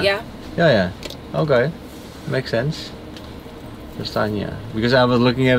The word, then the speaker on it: Prestaina: Prestaina, ¿verdad? Yes. How do you say your name? Prestaina. Prestaina.